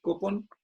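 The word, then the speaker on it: κόπον: En primer lugar, esta palabrita que dice fatiga, en el idioma original es una palabra, esta que se pronuncia así, kopon, aquí en caso acusativo, para los que saben de griego y les gusta practicar.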